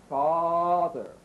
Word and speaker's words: father: We need to pronounce our number five vowels with much larger openings for a big round ah sound.